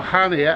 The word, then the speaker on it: Chania: I'm in Chania, or Hania as they pronounce it, in Greece.